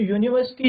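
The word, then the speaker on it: university: अगर आप ध्यान देंगे तो यूनिवर्सिटी जो है यूनिवर्सिटी क्या है? हमारा कसोनेंट साउंड।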